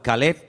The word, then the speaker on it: Caleb: Para diferenciar el nombre del perro se pronuncia diferente, pero se escribe igual. Caleb es para el hombre, para un nombre propio.